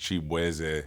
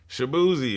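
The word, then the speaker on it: Chibueze: I'm Nigerian American so my last name is actually pronounced Chap and just growing up in Virginia like everybody just did not know how to Nate my name so they was just like shabzi and I was like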